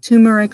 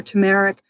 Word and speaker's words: turmeric: I've been doing tumeric some people call it pronounce it differently but tumeric or turmeric I'm doing powders and